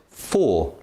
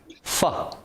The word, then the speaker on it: for: If you just read the word by itself, you'll probably say for. However, in the sentence, its pronunciation is different. It becomes fa. So, the word for has a weak form.